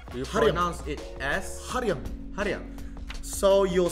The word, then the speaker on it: 한량: But you pronounce it as Hanryang.